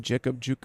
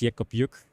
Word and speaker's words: Jeck Op Jück: yob yuk Jacob juk I I think the actual pronunciation is yob yuk team Philip guilter is